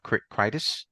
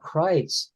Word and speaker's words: Kreitz: Rob Kreitis. His name is Rob Kreitz. Oh, Kreitz. Okay.